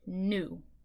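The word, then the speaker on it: gnu: But for this spelling pattern, they wanted you to learn that silent G, new, okay?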